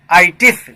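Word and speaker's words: -itis: एक रूट लाया हूँ ITIS, correct pronunciation इज आइटिस।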